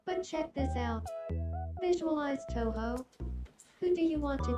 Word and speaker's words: Touhou: Uh, no, that's that's not how it's like it's more pronounced like uh maybe this will give it a better pronunciation. To ho That's a little bit better, but I don't know.